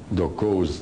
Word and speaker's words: Doko: Dokos with an S if you want to. Dokos, phonetically what they call them, Doko.